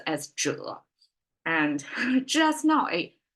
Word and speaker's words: 者: called 者, pronounced as 者. And just now, it's a revelation to me. This 者 can be translated as this AI age agent concept. And it almost like 者 sounds like agent as well.